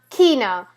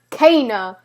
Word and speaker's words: Kena: an achievement rosie because i keep calling kana kina and this is the question how do you pronounce her name i love how they roll it's pronounced kana k na whew like seriously i mean rosu